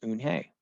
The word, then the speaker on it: Unhei: he asked her with his eyes open wide oon hey looked quickly at mr kim then turned to joey she nodded slowly yes it's pronounced un hey and it means grace mr kim added joey